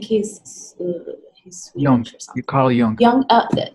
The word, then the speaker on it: Jung: launchers you Carl Jung Jung it's not a J ok Jung yes and it